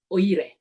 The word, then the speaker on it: Uyare: I watched a movie, a Malaysian movie called, they pronounce it Oire, but it's written Uyare.